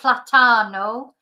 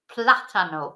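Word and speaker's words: plátano: is L platano so notice there's an accent on the a which is why the stress is on the beginning of the word so not platano platano because the accent tells us where to put the stress so the banana El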